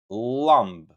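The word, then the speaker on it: llambë: Ll Ll Ll For example, a lamp in Albanian, you can say llamb.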